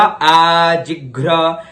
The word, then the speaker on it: आजिघ्र: आजिघ्र, आधा ग है, फिर घ और फिर र की मात्रा है, तो उच्चारण हुआ आजिघ्र कलशम।